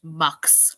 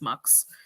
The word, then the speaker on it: Mx: It's MX, and apparently it's pronounced Mux. I think it should be Mix, but apparently it's Mux.